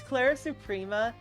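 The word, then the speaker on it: Clara Suprema: I I I It's Clara Supria because it rhymes with Sophia sort of, you know, it sounds sort of similar.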